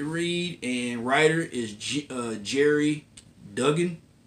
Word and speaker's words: Duggan: Next is another book I can't wait to read, and writer is Jerry Duggan. Dugan. I Googled his name and asked Google how do you pronounce his name, and they gave me the right pronunciation.